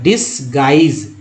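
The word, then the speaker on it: disguise: उसे डिसगाइज, यू का उच्चारण यहाँ भी नहीं हुआ है, साइलेंट कर दिया गया है, वाई का उच्चारण आई के रूप में हुआ है, एस को ज बोला गया था, डिसगाइज।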